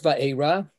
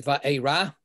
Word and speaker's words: Vaera: In terms of this Torah portion, what we have is it starts Vaera, or the correct pronunciation these days, Vaera.